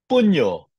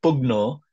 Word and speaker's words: pugno: a double C to seize or to capture puno remember this the pronunciation it's not pugno it's puntis to fight that's why in English